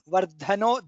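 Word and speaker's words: वर्धनः: Then Vardhano, Dha is Mahaprana.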